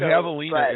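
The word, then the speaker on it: javelina: They're called Havina. You just sitting like Come on. Like get going. They're called Havalina. And the the J is pronounced with like it's H.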